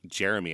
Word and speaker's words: Jeremy: I'm like, oh, that's just how I say Jeremy, I guess. But so now I am sure to pronounce it as 3 syllables.